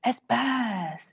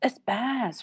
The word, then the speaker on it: SBAS: G's silent it goes and sbass is espass espass right okay so it'll be